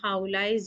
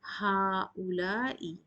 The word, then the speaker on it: هؤلاء: Now pay attention, we do pronounce هؤلاء, but the alif is not here. The alif is deleted. The spelling of هؤلاء is ha, hamza, lam alif and hamza at the end.